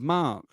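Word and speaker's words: marque: Congress the power to award a letter of Mark so it's spelled m a r qu u e a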